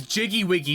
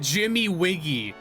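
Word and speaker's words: Jiggywiggy: Oh, it's Jiggy Wiggy Banjo, not Jimmy. Imagine, imagine calling it Jimmy Wiggy when it's Jiggy Wiggy.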